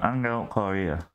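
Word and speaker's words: Ángel Correa: Angel Correa.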